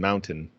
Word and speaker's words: mountain: Is the people who don't pronounce T in mountain, and words like that. Mountain? Mountain. Mountain. Mountain. Mountain. Yeah, Mountain. kills me. Well, I'll hear podcasters do that. I'm like, there's a T there.